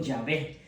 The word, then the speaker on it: Yahvé: Porque las iniciales en hebreo es Yahwé. Entonces ya la pronunciación viene siendo Yahvé.